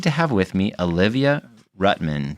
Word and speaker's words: Rutman: And I'm excited to have with me Olivia Rutman. Did I say it right? Rutman? Yep, Olivia Rutman.